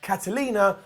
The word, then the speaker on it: Karolina: in the comments - yes it's pronounced Catalina but they spell it Karolina I don't know don't